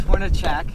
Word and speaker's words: Hornacek: Yeah, so are you Hornacek or Hornacek? It's Hornachak. That's what I thought.